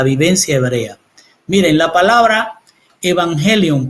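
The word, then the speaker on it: εὐαγγέλιον: hebreo desde la vivencia hebrea Miren la palabra evangelion pronunciada pronunciada como eubangelión evangelión es en griego y se suele traducir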